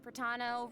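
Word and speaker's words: Protano: And hosting with me today, we have Hey everyone, I'm Cat Pratano, rhymes with Capitano, the voice of child's master Skirk.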